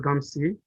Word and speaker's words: Gumsey: Again, my name is Gumsey. The N is silent. Gumsey means the word of God. means what it means. And if you pronounce the N, you'll be cursing.